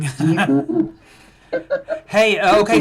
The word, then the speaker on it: Baidoo: The white pronounce it Baidoo. But it's Baidoo. It's just an American thing. Baidoo.